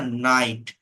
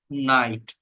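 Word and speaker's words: knight: হয় না তাই না নাইট অশ্ব কে এন আই জি এইচ আমার স্পেলিং এ কে আছে বাট প্রোনাউন্সিয়েশনে কে টা হচ্ছে নাইট নি হাঁটু ডাব্লিউ এর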